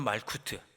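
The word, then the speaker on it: מלכות: 하고 헬라어라는 바를 신뢰 뭐 이렇게 부르죠 히브리어는 말코트 헬라어로는 바실레이아 이렇게 나라 천국 하나님 나라 때 나라를 발음을 합니다 근데이 나라는 단순히 어떤 지형적인 정치적인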